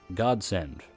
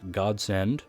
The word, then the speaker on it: Godsend: He changed her sword into a long spear, which he now dubbed with the name mentioned earlier, Godsend, pronounced either as Godsend or God's End, left deliberately ambiguous.